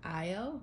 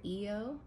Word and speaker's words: Io: And Io or Eo. They pronounce it differently all the time.